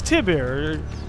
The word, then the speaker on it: Tiber: were over there by Tyber Island whoopsie wait you know what I've probably been saying it wrong it's Tiber so I don't even